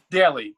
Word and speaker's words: Daly: Daly. Kathy Daly. Kathy Daly. Every day. Yes, like every day.